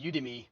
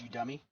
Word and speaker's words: Udemy: called Uh you dummy a lot of people call it udemy it's actually pronounced you dummy so this is you dummy and all it is